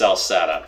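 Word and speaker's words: Celceta: Yeah, I know, it's actually pronounced Salsetta, but yeah, blame the Celts.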